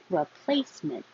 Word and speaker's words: replacement: Replacement. Replacement. Hold the T.